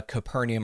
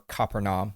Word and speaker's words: Capernaum: because Jesus could have hung out in uh Capernaum or copernom ever how you want to pronounce it that is Jesus's hometown not Nazareth